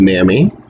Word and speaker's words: NAMI: for the mentally ill so it's pronounced nami almost all of whom